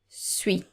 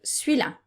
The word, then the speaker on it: celui: And note that it's very common for us to pronounce celui, suis. Okay, I don't know why. We take off the I and the L, suis. So, celui-là. Je vais prendre celui-là. It doesn't work with celle-là or cela or celle-là, the plural version, but it does work with celui.